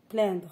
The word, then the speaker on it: plaindre: Plaigner, c'est un verbe du troisième groupe, c'est le verbe plaindre. Ça s'écrit avec P-L-A-I-N-D-R-E.